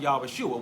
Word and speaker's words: Yahushua: And this name, you're going to find out where this Yahushua, Yaharlah, and Yahshua, well, I call him Yahushua, which is the most accurate name, pronunciation of his name, Comes from right here.